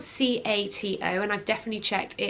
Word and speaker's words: Cato: this and that is the name cato so it's spelled c-a-t-o and i've definitely checked it is pronounced cato